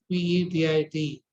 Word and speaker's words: Petit: This triangle is called as lumbar triangle, described by a scientist called Petit, P-E-T-I-T, where the final T is silent.